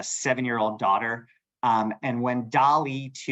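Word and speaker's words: DALL·E 2: have a a seven-year-old daughter um and when Dolly 2 U that's how you pronounce this dolly 2 when it launched I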